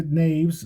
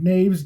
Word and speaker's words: Knavs: Amelia Naves, and that's spelled with a K, Amelia, Amalija, Knavs, Amelia Naves, mother of former First Lady Melania Trump, dies.